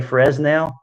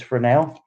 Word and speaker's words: Fresnel: And look, in the videos, I even say it wrong. I say Fresnel. I've been schooled now. It's Fresnel.